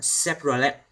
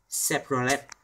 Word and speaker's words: Chevrolet: Và đây là một hãng chúng ta thường hay đọc sai. Chúng ta nên đọc là Chevrolet, Chevrolet.